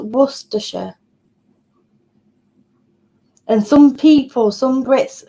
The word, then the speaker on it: Worcestershire: make a bolognese sauce um yeah that's it worcestershire yeah worcestershire and that's that's how you print how the how you pronounce it in soups but yeah it's it's